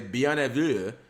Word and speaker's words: bienvenue: It's pronounced bienvenue.